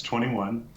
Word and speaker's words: 2NE1: It's 21. That's not the age, but that's how you pronounce the name.